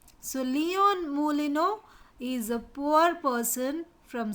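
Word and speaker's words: Moulineux: his name is leon mu lino leon mulino m-o-u-l-i-n-e-u-x it's pronounced as mooli no so leon molino is a poor person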